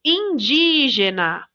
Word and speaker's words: indígena: palavras então por exemplo indígena sílaba tônica é o de porque tem acento a gente já sabe